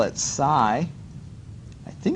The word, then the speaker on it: psi: Now that funky symbol, I call it psi. I think it's spelled psi.